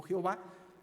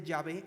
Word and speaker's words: Yahvé: Digamos que es su nombre personal, es el que en nuestras Biblias que utilizamos comúnmente se traduce como Jehová. Probablemente Yahvé sea una pronunciación mucho más precisa.